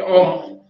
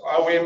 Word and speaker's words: Om: Chant Om. Om. It's spelled A-U-M. Chanted as O-M, Om.